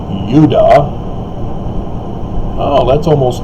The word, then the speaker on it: Judah: isn't it interesting that judah is more correctly pronounced if you get rid of the european corruption of turning the semitic yod into the j sound so it would be udah oh that's almost like